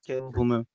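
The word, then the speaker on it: Caleb Lomu: Caleb Lemu, right? That was the other guy I was thinking of. Is it Caleb Lemu? I think. Yes, Caleb Leu.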